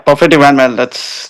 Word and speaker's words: Perfetti Van Melle: Have I got the pronunciation right? Yeah, Perfetti Van Melle.